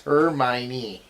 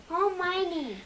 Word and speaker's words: Hermione: You can't ever say her name right. It's Hermione. Hermione.